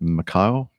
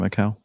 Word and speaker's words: Macau: gear actually nose wheels while landing attempt at Macau mchao how do you pronounce that Macau probably Macau that's right Jeff